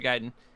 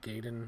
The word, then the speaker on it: Gaiden: uh that bothers me when you say gaiden because i've always pronounced it gaydon gaydon gaiden is the correct way i think i think i've always said it wrong but in my head